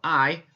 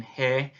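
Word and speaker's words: hay: before christmas of saying hey for it but it's actually pronounced just like a capital i as in i am going to the park and so remember that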